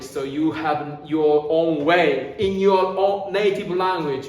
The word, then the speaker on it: は: You have your native language, so you have your own way in your own native language, right? So we say this ha, we pronounce wa naturally, but you need to know that, okay?